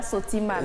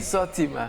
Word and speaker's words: Sortima: On a compris que ce n'est pas Sotima. C'est pas Sotima, c'est Sortima. Bon, c'est la prononciation.